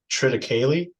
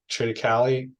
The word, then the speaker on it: triticale: of folks out here grow uh triticale treated Cali um yeah people pronounce it differently and so that's a